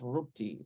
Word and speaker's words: Ruti: That would be in English, Ruthie, but it's pronounced Ruti in Hebrew.